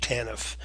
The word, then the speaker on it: TANF: Families, or TANF is how the TANF is pronounced, TANF.